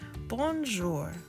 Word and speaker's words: bonjour: it like this Bell bonjour hello in French you say it like this bonjour gorgeous beautiful perplexed mixed